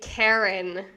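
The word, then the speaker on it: Acheran: through better and my other character's name is Karen spelled like this a-c-h-e-r-a-n and it sounds like a Karen during the time when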